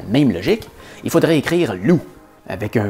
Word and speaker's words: loup: Ou encore plus absurde, on écrit loup avec un P muet à la fin. Pourquoi? Au féminin, c'est pas une loupe, c'est une louve. Si on suivait la même logique, il faudrait écrire loup avec un V muet à la fin.